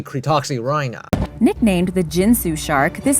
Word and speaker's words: Cretoxyrhina: It kind of reminds me how I used to pronounce this one. Cretocirina, which is just, I'm embarrassed about that. It's supposed to be called the Cretoxyrhina.